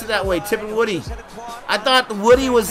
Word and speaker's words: Tipungwuti: say his last name i would not have pronounced it that way tipping woody i thought woody was like a i told